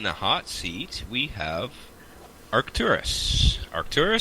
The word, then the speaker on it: Arkturus: Arkturus?